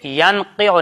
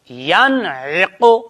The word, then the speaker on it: ينعق: ينقع بیٹے ینقع نہیں، ینعق پہلے عین پڑھو پھر اس کے بعد قوف پڑھو، ینعق.